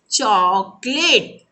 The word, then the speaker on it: चॉकलेट: देखिए यहाँ पर हम ओठ को गोल करके बोलेंगे जैसे डॉक्टर, उस दिन मैंने समझाया था, वैसे यहाँ पर आप कैसे बोलेंगे? चॉकलेट।